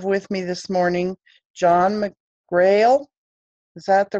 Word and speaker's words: McGrail: and I have with me this morning John McGrail is that the right way to pronounce it John it is okay and he's